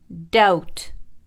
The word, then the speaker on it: doubt: I'm going to teach you some of the words with silent letters. Let's begin. Silent B. Climb, climb. Comb, comb. Crumb, crumb. Debt, debt. Doubt, doubt.